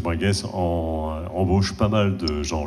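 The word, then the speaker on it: Brengues: Cher Bringue, hein, on dit Bringue, Bringue ? Bringue. Ouais. Il y a des petits pièges. B-R-E-N-G-U-E-S. On ne prononce pas le S ? Non plus. Voilà.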